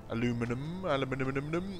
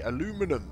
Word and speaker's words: aluminium: Yeah, yes, in America and in England, we pronounce those things differently. For those of you that were commenting in the comments, I do know how to pronounce aluminium. That's how we say it here. But those across the pond say aluminum, and I think we spell it differently as well.